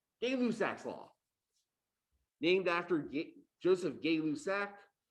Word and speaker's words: Gay-Lussac: Gay-Lussac's law, named after Joseph Gay-Lussac. If you've got really good French, I think the actual French pronunciation is something like Gay-Lussac.